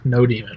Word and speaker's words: nodemon: install a helper utility called no demon or nodemon depending on how you want to pronounce it as of right